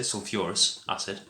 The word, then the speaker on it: sulfurous acid: adds to make h2so3 which is called sulfuros sulfur urals acid sulfurous acid pronounce it like that and then this is